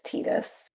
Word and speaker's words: Tidus: I only know him as I played FF10 later in life, and Halcyon got me early, and he was like, "It's Tidus," so I never knew him as Tidus.